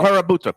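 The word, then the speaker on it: Kurobuta: It's called calabuto. Calabuta. It's a Japanese pork. Wagyu, Okay. Oh, like wow. a back- karabuta pork.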